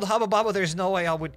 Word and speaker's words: Hubba Bubba: Lol, it's Hubba Bubba. I didn't know that that's how people pronounce it. That's how he pronounced it in Lithuania. It's Hubba Bubba, and it'll always stay Hubba Bubba.